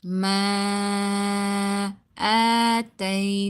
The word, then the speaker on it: آتيناكم: Okay, and you need to stretch it according to 4 to 5 alif. Ma ataynakum.